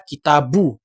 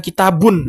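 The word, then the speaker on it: كِتَابُ: kemungkinannya satu berarti ya Ini dibaca kitabu bukan kitabun Kenapa karena dia menjadi mudhaof Oke aman setelahnya kitabu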